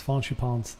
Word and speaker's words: Fancy Pants: how you pronounce his name. Yeah, it's Faunchi Pons.